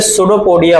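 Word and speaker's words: pseudopodia: इसे सूडोपोडिया बोलते हैं। सूडोपोडिया, पी से स्टार्ट होता है। स्पेलिंग किससे स्टार्ट होती है इसकी? पी से।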